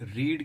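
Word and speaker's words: read: You should have, देखिए रीड की जो तीनों फॉर्म होती है वो सेम ही होती है, रीड, रेड, रेड, लेकिन जो प्रोनाउंस करते हैं हम फ्रेंड्स वो सेकंड और थर्ड फॉर्म को हम बोलते हैं रेड। वो बेशक ही रीड लिखी जाए लेकिन बोलेंगे हम उसको रेड, ठीक है। प्रोनाउंस जो करते हैं हम उसको रेड प्रोनाउंस करते हैं।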